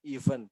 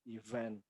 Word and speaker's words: event: Nah, ini kadang-kadang ada orang menyebut ini event, ya. The right way to say is event, peristiwa.